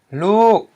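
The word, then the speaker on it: ລູກ: We have a low consonant o with a long vowel u followed by a dead syllable k, and it equals a falling tone. So when we read this word, since it follows this tone rule, we know to pronounce this word with a falling tone. Lu.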